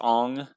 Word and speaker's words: Aang: renounce anything right um aang is pronounced ong iro is pronounced ero